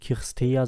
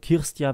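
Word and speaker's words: Cîrstea: so ranner kärst ja nicht christa sondern kirst jahr wie eine rumänische kollegin lange mit mir zusammengearbeitet damals gesagt hat die heißt nicht erst er sondern er wird wie ein jahr ausgesprochen kirst ja deswegen bin ich stolz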